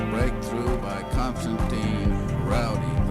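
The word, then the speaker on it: Raudive: And the most complete source book is a book called Breakthrough by Constantine Rowdy. That's actually pronounced Rowdy Vay. It's Latvian.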